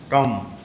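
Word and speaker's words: tomb: থাম থাম্ব ওকে সবগুলা ওয়ার্ড এই ডাম থাম টম টম ডেথ এখান থেকে এটা সরে যাবে ডেথ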